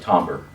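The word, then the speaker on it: timbre: that in there but it's actually supposed to be like tomber it's whatever that's that's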